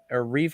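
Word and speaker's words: Reiff: You don't know the strategy coming out of New England, and we're gonna trust these veteran guys in Reef.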